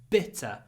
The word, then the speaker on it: bitter: that creates the stress bitter B bitter bitterness I hope you can do it not but bitter bitter so not a lot of voice for the vowel more bitterness I noticed bitterness